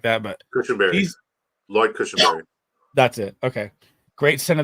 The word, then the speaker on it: Lloyd Cushenberry: Lloyd Cushenberry.